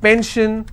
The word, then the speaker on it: pension: will stress on ten if i have pension i will stress on pen so basically wherever i